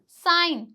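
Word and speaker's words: sign: तो जी साइलेंट होगा जी के बाद अगर एन आ रहा है तो जी क्या हो जाएगा साइलेंट हो जाएगा जैसे कि साइन असाइन तो यहां पे एन से पहले क्या आ रहा है जी आ रहा है यहां पर भी एन से पहले क्या आ रहा है जी आ रहा है तो यहां प ऑटोमेटिक जो है वो जी हमारा साइलेंट रहेगा ठीक है आगे चलते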